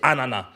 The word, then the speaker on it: ananas: précisément à sa finale, l'exacte prononciation du mot ananas et ananas sans S, on ne prononce pas le S, donc c'est ananas.